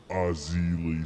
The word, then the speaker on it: Erzulie: saga and yeah we're walking out here with Ozzie Lee still I'm pronouncing that correctly yes yeah